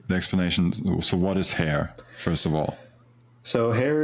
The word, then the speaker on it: Hare: I think it's pronounced Hare, right? Hare, yes, like the animal.